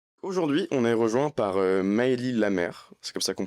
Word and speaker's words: Maëlie Lamère: Aujourd'hui, on est rejoint par Maëlie Lamère, c'est comme ça qu'on prononce son C'est comme prénom.